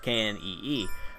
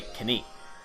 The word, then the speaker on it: knee: In English, it's silent. So, like, for example, the word knee is spelled K-N-E-E, but we say knee. We don't say knie.